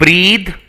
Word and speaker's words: breath: okay so you see breathe breath okay breath of your breath here your breath that means here it is a noun breathe is an action so breathe the pronunciation is different breathe and breath okay both are different